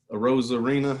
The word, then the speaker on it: Arozarena: Arozarena, how you say his name?